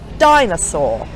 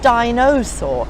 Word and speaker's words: dinosaur: the schwa family and dinosaur it's not dinosaur it's dinosaur octopus and so on